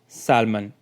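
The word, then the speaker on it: salmon: इसी तरह से नीचे दिए गए वर्ड्स हैं उनमें भी L साइलेंट है, इनको आपने किस तरह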